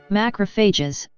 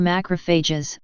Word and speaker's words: macrophage: macrophages pronunciation / mocker fed / Greek big eaters